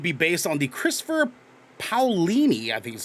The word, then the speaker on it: Paolini: the series would be based on the christopher paolini i think is how you pronounce it pale lady thank you garrick a young adult novel series